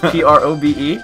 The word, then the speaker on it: Probe: It was spelled P-R-O-B-E. Yep. I didn't know at the time, but it's pronounced Probe, but I rolled up to